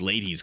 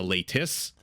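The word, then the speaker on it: Leitis: a native tongue or learned Lithuanian how to pronounce ladies because I kept saying ladies ladies and people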